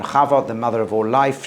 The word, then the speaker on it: Chava: Chava Eve, because if you can't pronounce the Cha, you say Ava or Eva, and then it looks like EVE, and it becomes Eve.